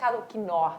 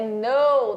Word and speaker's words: know: Porém, esse K não é pronunciado a mesma coisa aqui da palavra know, que é saber. Você não fala que know. Não é quinor, gente. Nem sei se é quinor que fala também. Aí é know, tá? Sem o K pronunciado.